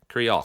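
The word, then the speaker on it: crìoch: Crioch, because it's similar to the word in like loch, which is like in the back of the throat. So it's och. It's the Crioch.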